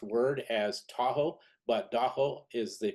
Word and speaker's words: Da-ho: AA means the lake Taho Shoreline uh it's mispronounced word as Tahoe but Doo is the correct way to say it so